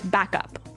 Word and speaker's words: backup: to point out that here the pronunciation and stress of this phrase is really important hey yes yes you have to say backup Backup backup yeah so both words are stressed at about the same level hey mhm backup cuz